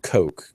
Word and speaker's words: Koch: going on for quite a while now this is spelled coke ko CH and Charles and what's another there's